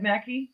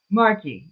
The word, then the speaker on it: Markey: no there's no waitings Ed Mackey is that his name Mackie Ed Mackey or Marky how do you say it I'm Ed Markey Markey yeah it's like well